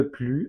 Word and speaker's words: plus: Par exemple, on pourrait dire Müller jouait au foot, mais maintenant, il ne joue plus au foot. Attention, on ne prononce pas le S de plus.